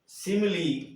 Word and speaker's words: simile: इसी तरह SIMILE, सिमली। तो यहाँ पर भी ये ई का उच्चारण दे रहा है, यहाँ पर भी ई